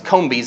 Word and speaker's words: Cambyses: I keep pronouncing it wrong. It's Cambyses is the name of it, name of that king, and also Darius the First.